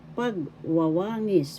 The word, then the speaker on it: pagwawangis: Pagwawangis, pagwawangis. First syllable pag, second syllable wa, third syllable wa, fourth syllable ngis. Pagwawangis. The fourth syllable has the accent, or you could also say the first as well.